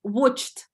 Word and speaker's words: watched: Watched. That e-буковка не произносится.